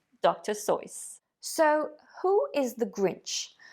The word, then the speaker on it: Seuss: hat you will know that his name is pronounced dr soyuz that's right dr seuss so who is the grinch well looking at